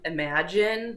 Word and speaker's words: Imaengine: using an app called, I'm probably going to pronounce this wrong, Imagine, but it's spelled like I'm a engine. So IMAENGINE. So you can look that up on your phone if you have an iPhone.